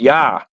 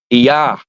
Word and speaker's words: Ea: Tablets was spelled EA a lot of people don't pronounce it right it's pronounced yah yah So when you say